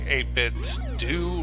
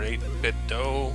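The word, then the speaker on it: 8BitDo: also worth mentioning that i'm using the 8-bit do or 8-bit dough some people pronounce it both ways anyway the 8-bit do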